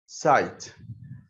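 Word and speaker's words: site: يبقى بس حيث يحتوي» كلمه سايد اس اي تي اي هل انا نطقت حرف الاي اللي في اخرها يعني مثلا هادي لك مثال مثال مثال اهو لما اقول لك الكلمه دي سايت هل انا نطقت الحرف الاخير اللي فيها ما حصلش ما تنطقش يبقى احنا بنعد الحروف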